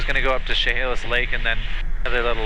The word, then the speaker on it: Chehalis: Tell them we're probably about 5 miles to the northwest right now of Chehalis Lake. How you pronounce? Chehalis. Chehalis? Yeah, so it's a C-H-E, so Chehalis.